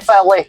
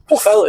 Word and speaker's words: Pwllheli: Pwllheli.